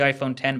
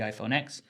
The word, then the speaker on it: iPhone X: released the iPhone X which is called the iPhone 10 but everyone calls it the iPhone X probably due to the fact that its name is spelt iPhone with an X mmm and now there's